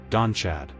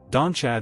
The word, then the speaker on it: Donnchadh: Number two, Donnchadh. Pronounced roughly d u n a k u, and that k h sound is that Gaelic throat sound like a soft rasp not a hard K.